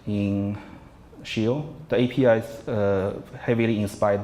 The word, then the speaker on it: Scio: our life easier so the name shield it's pronounced shield that's ecclesiastical our team which is the type of the Pope speaks that's what I I'm told